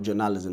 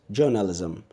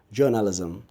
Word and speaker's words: journalism: who you are n al is them people pronounce does journalism it's not journalism the stress is not on them now the word is pronounced is journalism journalism you know so the stresses on the fest